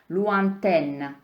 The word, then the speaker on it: lointaine: Et puis, donc les N, lointain, tam je třeba se usmát, lointain, široký úsměv, lointaine. Takže tam se taky usmějete, ale vyslovíte N a AI se vyslovuje jako E.